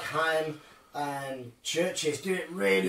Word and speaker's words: Haim: It's Haim, which is spelled H-A-I-M, like Corey Haim, it's Haim.